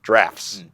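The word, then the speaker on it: draughts: the governor or drafts it looks like droughts but it's actually pronounced drafts now Jamal what is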